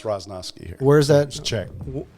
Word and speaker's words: Roznovsky: do you say your last name roznovsky is the way it's pronounced in the old country but uh it's roznovsky here where is that check oh it's check